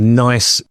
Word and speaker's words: NICE: NICE with a silent H. Yeah, silent H.